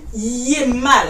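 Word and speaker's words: hiémal: L'adjectif dérivé de hiver, c'est yémal. Yémal. Ça s'écrit H-I, E accent aigu, M-A-L.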